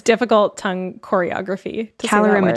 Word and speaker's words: calorimetry: So it's either direct or indirect calorimetry.